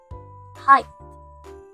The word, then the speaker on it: height: to say this word first we start with the H sounds like in the word h and then we add the a sound like in the word my a finally we end it